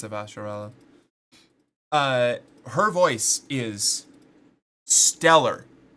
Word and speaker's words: Avasarala: Who played, Inspector Grayson in Arcane and, Counselor, Avasharala? In The Expanse, I think it's Avasharala. Her voice is stellar. Avasarala.